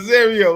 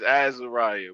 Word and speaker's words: Azariah: Am I pronouncing that right? Nah. Well, I'm gonna roll with that. What you said? How you pronounce it? How you pronounce it? Is Azariah, but I like how y'all said that. Y'all that sounds better, man. Azariah is much better.